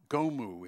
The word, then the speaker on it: GOMU: So the other handout you've got is called Gomu, is how you pronounce it.